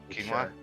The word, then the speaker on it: quinoa: I don't know how to say this word quoa it's quinoa whatever yeah cat Jam uh okay so wait